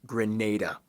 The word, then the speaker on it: Grenada: it's an island let's learn about it it's pronounced Grenada yeah I'll just see myself out foreign